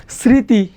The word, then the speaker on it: স্মৃতি: শব্দের শুরুতে যদি মফলা থাকে তার উচ্চারণ হয় না, কিন্তু তার উপরে চন্দ্রবিন্দু হয়। যেমন যেমন আমরা যদি বলি স্মৃতি, স্মৃতি, দেখো মফলার 3টা নিয়ম।